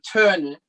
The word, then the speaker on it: Töne: Mit der Töne. Long Süß. sound. Big long sound. Töne.